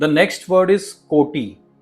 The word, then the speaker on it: कोटि: The next word is कोटि। और इसमें डबल टी का उच्चारण है। कोटि यानी करोड़ और मिलियंस। और इसे हमें थोड़ा सा जोर से बोलना है।